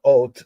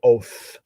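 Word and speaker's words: אות: The ot, some say oath. Well, there's no really in Hebrew, but some people pronounce that that's how they speak. But proper Hebrew is ot.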